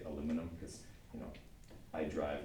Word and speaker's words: aluminum: is okay and then I went and did too many syllables on aluminum don't say it like that but then I say it myself and it doesn't sound good so I always say aluminum because you know I